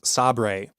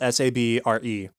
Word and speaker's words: Sabre: the cold cold open they refer to the company's new owners as SOB ray spelled sa b r e and we don't know what's wrong and so Gabe shows up and pronounces it correctly Sabre and it's right before